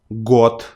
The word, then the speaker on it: год: So you too from now on should not say these letters in the very endings of words, but you need to change them on their voiceless pairs, their counterparts from column 2.